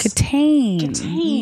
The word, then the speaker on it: Kitaen: They pronounce it Tawny Catane. Tan. No, yes. Catane.